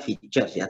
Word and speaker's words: features: media itu adalah features dia bacanya fiturnya tulisannya Fit pihak tools Tapi bacanya features nah fitur ini adalah